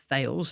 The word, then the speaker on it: Thales: They also have a stake in Thales, or Thales, as you would say it in English, but Thales is the pronunciation in French.